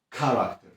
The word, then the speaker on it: character: Oczywiście są pewne reguły, na przykład najczęściej CH wymawiamy jak K, na przykład character, czyli charakter, albo charisma, czyli charyzma. Albo jak te CH stoi w środku wyrazu, na przykład technology, czyli technologia.